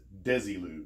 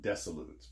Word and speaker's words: Desilu: Constitution also the name of the studio is pronounced Desilu not desolates for Desi Arnaz and Lucille Ball when I